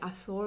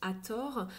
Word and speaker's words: Hathor: Alors le vrai nom c'est Hathor, les Français prononcent le TH se lit comme ça en anglais, les Français le prononcent Hathor.